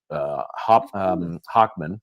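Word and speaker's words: Hochman: It is Hockman, I believe is how you pronounce his Yes, name.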